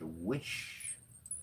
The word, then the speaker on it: Wyche: It's WYCHE, pronounced wish, like a wish.